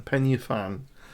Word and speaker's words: Pen y Fan: Bracken beacons maintenance range the highest peak would be Penny fan that's pen y fan Penny fan um how you pronounce it penis fan some I think that's right um not English it's Welsh term um I don't know